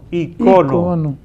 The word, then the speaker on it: icono: Es un poco semejante a lo que dijimos aquí cuando tratamos el término icono. Icono. Que ya hasta la academia dice que se puede también Ícono.